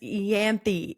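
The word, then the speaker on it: Ianthe: and we meet the priestess Yanthi is I guess how it's pronounced.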